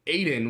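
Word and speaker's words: Aodhán: But I did want to point out, Aiden is the anglicized version of Aiden, which is spelled Aodhan.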